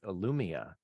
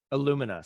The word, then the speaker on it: Illumina: you're doing now with illumia uh am I pronouncing it right Lumina Illumina sorry I got it right in the intro I got it wrong there but this is very